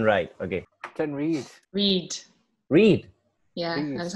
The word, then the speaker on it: Reid: Reid. Yeah, that's how you pronounce it.